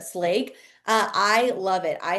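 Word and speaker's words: Schlage: So, we use the Slage. I think that's how you say it. I always used to say Slo, but Slake.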